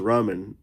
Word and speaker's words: ramen: Yeah, I accidentally mispronounced ramen and I said Raymond instead.